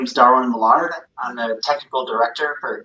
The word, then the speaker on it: Millard: Mard. Uh yeah you did. Right on. Okay. I've heard it pronounced a couple different ways.